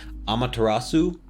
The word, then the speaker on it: Amaterasu: was from Okami, and the official name is Amaterasu. And she is look at you pronouncing.